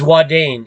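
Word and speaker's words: Ouadane: thing you see is wadane and I went there I went there but it's not spelled like that you gotta add an e on the end okay and then it's spelled o-u-a-d-a-n-e okay now that's a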